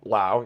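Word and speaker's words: Lowe: thing about Brandon Lao Lao yes I got it right that time I want to say low I've been calling him low my entire life Brandon La um apparently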